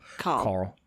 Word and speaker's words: Carl: Baron okay Carl Baron in America they would not pronounce the r in Carl Carl Carl yeah he s